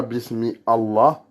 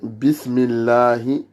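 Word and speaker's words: بسم الله: On ne dit pas bismi Allah, mais de base dans la langue arabe, en fait, c'est ça. Bismi Allah. Mais bismillahi, comme vous avez remarqué, le lemme de Allah, là, il n'est pas emphatique comme Allah, mais il est illa. C'est comme si on essayait de montrer les incisives du bas. Il est adouci.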